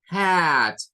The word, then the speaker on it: hat: Entonces van a decirme, por ejemplo, hat, con el sonido I. Hat. Acuérdense que es I. Hat.